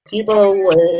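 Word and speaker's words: Tiebout: is a tibo sorting is that how to pronounce it correctly yes tibo is an economist I believe the paper was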